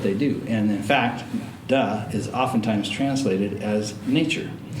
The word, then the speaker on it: De: du looks like d it's spelled D E but it's pronounced du and this is the